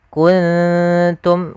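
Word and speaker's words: كُنْتُمْ: Jadi terdengar seperti ada eng tapi dia bukan ang tapi kun kuntum karena langsung kepada makhrajnya.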